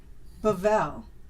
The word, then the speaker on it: Bavel: your last name my last name yeah bavel yeah okay cool I wanted to know I'm